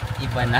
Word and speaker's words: Ivana: Ivana parang Ivana allow pero ang pag-pronounce I na for example ng yung asawa mo or jowa mo jowa mo ' ba hinahanap na iba na iba na iba walay walay guys.